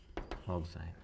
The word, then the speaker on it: oxime: रहा हूँ ये डायरेक्ट आ जाते हैं, NOH ऑक्साइम, तो ये आप ध्यान रखना, ऑक्साइम बोलते हैं यार स्पेलिंग, OXIME, ऑक्साइम।